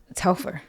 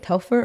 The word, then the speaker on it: Telfar: Telfar. How do you say it? Telfar or Telfar? And don't say Telfeezy, because I hate when people say that. That's so corny.